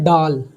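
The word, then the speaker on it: ڈال: अब इसी तरह दाल के बाद आता है डाल, इसको हम लोग उर्दू में डाल बोलेंगे, लेकिन अगर हिंदी जानना हो तो डाल का ड होता है।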